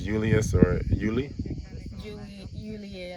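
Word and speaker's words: Iulius: So you're saying whether it's Julius or Yuli? Julie, like Julie, actually. You okay? So you gotta pronounce everything.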